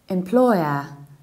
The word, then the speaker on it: employer: another very important word its employer employee oh you stress the seconds level and you reduce the beginning it's in law employer